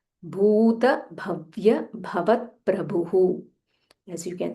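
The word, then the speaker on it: भूतभव्य: Vishvam, Vishnur, Vashatkaro, sh, Murdanya sh, and there is half t, Vashatkaro, Vishnur Vashatkaro, Bhuta Bhavya, Bha Mahaprana, and it is Bhu Dirgha, Bhuta Bhavya Bhavat Prabhuhu.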